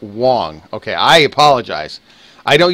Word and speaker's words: Wang: Is it Wong? Last name is pronounced Wong? Okay, Garrett Wong.